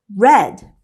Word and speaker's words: read: past participle of read the correct answer is red they're spelled the same but they are pronounced differently we will have read